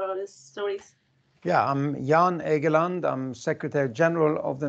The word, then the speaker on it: Jan Egeland: me if your full name so i can pronounce it properly for all these stories yeah i'm jan egeland i'm secretary general of the norwegian refugee council